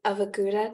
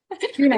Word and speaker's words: guna: Can you give us an example of a gouda? Did I say it right? Guna, I feel yeah.